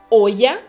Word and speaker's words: olla: E a terceira, que nós podemos ler olla, com som de I, olla, com som de